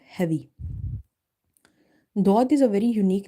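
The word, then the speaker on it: ضاد: Some people read it like a dal, dod sound, or some are reading zod. Both pronunciations are wrong.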